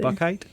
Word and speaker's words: Buchheit: I actually don't think I've ever heard you say it, so I never knew how to pronounce it either. Bakite.